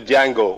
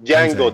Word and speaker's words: Django: So Django, the D is silent.